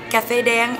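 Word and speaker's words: Cà Phê Đen: Am I even saying it right? Yes, you are. Well, in Vietnamese, it's Caphe Den, and that translates to black coffee.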